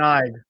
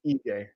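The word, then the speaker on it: Ige: Who's got money on Dan Ike? Who's losing some money? Dan I might seriously get knocked out tonight. You might actually get knocked out tonight. I keep saying I, it's EJ.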